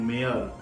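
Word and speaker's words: mayor: silent नहीं होता है सिर्फ तीन वर्ड है जहां पर वाई को बोला ही नहीं जाता जैसा फर्स्ट वर्ड है बियोंड प्रेयर एंड मेयर हमारा दूसरा रूल क्या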